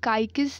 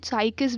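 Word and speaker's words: Cycas: अब देखो काइकिस नाम के, साइकिस भी बोलते हैं लोग, साइकिस काइकिस प्रोनाउंस करते हैं इसको।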